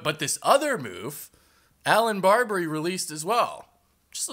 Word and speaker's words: Barbre: But Allan Barbrey, by the way, it is Barbrey. Um I know everyone calls him Barber, but Barbrey is actually the correct pronunciation of his name.